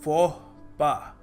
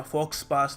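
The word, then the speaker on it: faux pas: हमको प्रोनाउंस करना चाहिए देखो इसको प्रोनाउंस करने का सही तरीका है फ पा जी हां पास या फॉक्स पास नहीं है जानता हूं आप में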